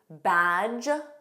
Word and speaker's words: badge: Let's review words with a silent D: badge. Notice J. It ends on a J sound.